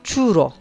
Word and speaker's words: churro: Yanlış telaffuz etmiyorsam churro diye okunuyor.